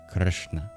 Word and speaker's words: Krishna: In Sanskrit, the sound can act as a vowel, especially when you roll it. It's called a vocal R, a vocalic R. So that's the vowel in the first syllable, is just Krishna, Krishna. There is no I sound, or even a U sound that you might see transcribed in Gujarati, for example.